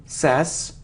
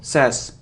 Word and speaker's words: says: sweet sweet sweet so it isn't sass now says it's like say but he should eat sass but not says says they says he says it's a very common mistake